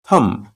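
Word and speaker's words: thumb: की इंग्लिश होगी थम थम यहां पर बी को प्रोनाउंस नहीं करेंगे थम यानी अंगूठा एडी एडी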